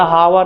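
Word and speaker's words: hour: इसलिए लिखा जाता है एच यहां साइलेंट है प्रोनाउंस एशन हो हो रहा है यहां से ओ से इसीलिए यहां लिखा जाएगा ए क्लियर हावर क्या होगा हावर हावर हावर यहां से आवाज हावर ठीक इसीलिए यहां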